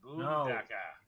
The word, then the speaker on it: Boondockers: Boondockers. I'm glad. You gotta say it right. Because say it right. No, we are. Take off the R and add an AH. It's a boondaka.